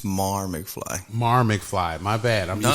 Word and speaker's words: Mar McFly: my name four times Marty McFly it's Mar McFly Mar McFly my bad